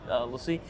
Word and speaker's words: LaCie: It's Lacie. Lacie. I asked officially, and they said Lacie, okay.